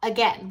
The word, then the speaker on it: again: let's start with again it's again the stress is on the second part again we don't say again